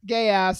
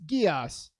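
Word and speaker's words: Geass: point is, it is not pronounced gay ass. It's pronounced gias.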